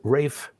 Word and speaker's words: Ralph: an English composer named Rafe Von Williams that first name is spelled Ralph but we have to remember that that it's only pronounced Ralph in the United States everywhere else that spelling